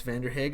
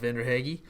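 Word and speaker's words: Vanderhaeghe: tell Hannah corrected me it's van der Hague I believe not vendor hagy he writes kind of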